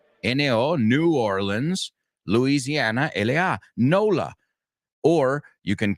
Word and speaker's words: NOLA: And you guessed it, we're going to NOLA. NOLA? Yeah. New Orleans, Louisiana. N-O, New Orleans, Louisiana, L-A, NOLA.